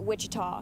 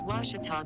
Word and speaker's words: Ouachita: at a baptist university back in texas everybody pronounces it wichita but really it's ouachita washington how would you pronounce it it's washita baptist university get it right it's watertall people it's